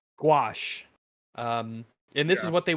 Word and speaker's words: gouache: for backgrounds was called opaque gouache. Wash, right? Gouache.